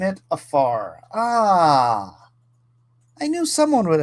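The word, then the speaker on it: עפר: The Hebrew word is afar. So, it is I mean, obviously, it's not spelled it's spelled in Hebrew, but when you pronounce it, it's afar.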